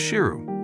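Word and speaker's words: Sheru: His real name is Shiru, which means lion in Hindi.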